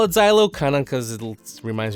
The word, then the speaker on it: Xylo: I'm going to call it Xylo kind of because it reminds me of the word xylophone. So I'm going to pronounce the X like a Z, but they're the Xylo motors.